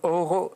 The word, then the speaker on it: Oro: Oro, je prononce bien? Oui.